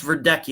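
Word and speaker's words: Verdecchia: and so on the Charlie project but it's pronounced ver ducky a very Italian name I guess but so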